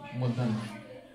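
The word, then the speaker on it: মধ্যাহ্ন: মধ্যান্য ম ধরে আকার হয় নয় মধ্যান্য এর উচ্চারণ হচ্ছে এই মধ্যান্য ঠিক আছে কি লিখলাম জিরো ডিগ্রি যেটা সেটা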